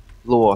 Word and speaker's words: Luo: Yeah, actually, LD, his name is pronounced Luo. Luo? Luo, Xiao Luo. That's what we call him in Mandarin.